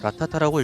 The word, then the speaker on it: Rat A Tat: 제목이 특별하게 띄어져 있어서 무언가 읽는 법이 있는 게 아닌가 하시겠지만 그냥 붙여서 라타타라고 읽으면 됩니다.